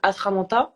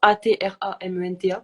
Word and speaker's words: Atramenta: Il est disponible sur mon site éditeur, donc Atramanta, Atramenta, comme ça se prononce.